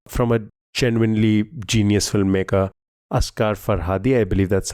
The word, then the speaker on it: Asghar Farhadi: Oh, what a brilliant film from a genuinely genius filmmaker, Asghar Farhadi. I believe that's how the name is pronounced.